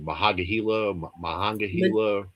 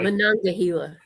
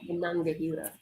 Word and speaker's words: Monongahela: I always say the river name wrong. Mahangahela rye. Monongahela. Monongahela. There you go. Monongahela.